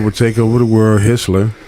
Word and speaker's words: Hitler: nobody I think the only name he actually mentioned was Hitler and he pronounced it wrong he said hisler but he did some